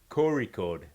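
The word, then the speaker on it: Kozhikode: It's a It's like a deep gut roll sound.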